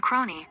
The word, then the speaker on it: crony: crony other forms cronies a crony rhymes with Pony as a buddy a